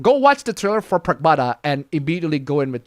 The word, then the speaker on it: Pragmata: Fam, go watch the trailer for Pragmata and immediately go in with the and and like which one?